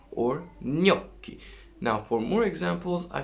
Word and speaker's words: gnocchi: Well, G, I said, is affecting on N. What is the effect? It makes N beautiful. How does it make it beautiful?